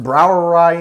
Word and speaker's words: Brouwerij: so first thing first browerai in case you're curious it's a brou that is the dutch spelling of the word brewery though it is pronounced the exact same as german it is the dutch